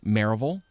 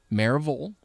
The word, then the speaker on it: Maryville: to you they pronounce there's two different ways there's the normal ways marival marivole or if you're really really really really redneck marvel like myrrh but mostly maryville and that's just it